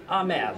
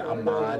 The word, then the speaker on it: Ahmed: just rolling okay I'm here with Corey and ahed yes correct I pronounced that correctly that is correct that's thank you sometimes people get it uh I get a lot of stuff sometimes I get Amad I can't stand that one sometimes people think